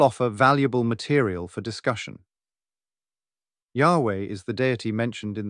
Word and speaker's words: Yahweh: or the four letters presently the widely acknowledged theological pronunciation is Yahweh although a commonly used